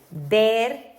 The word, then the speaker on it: ver: Ver, remember this one is like a b.